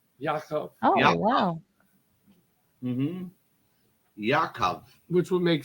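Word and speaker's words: יעקב: favorite videos the name James in Hebrew is pronounced Yakov Yakov wow Yakov which would make sense but in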